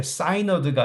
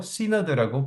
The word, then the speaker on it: synod: 노예 위에 synod 대회라고, 그걸 영어로 시너드라고 하거든요. 이게 사이너드가 아니고 시너드라고 발음합니다.